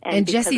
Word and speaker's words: Gessie: on essence's site and Jesse is spelled with a G yes it's www G